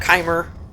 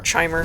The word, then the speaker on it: Chimer: Almer bosmer dunmer dwr kimer or chimer depending on how you pronounce it um you know so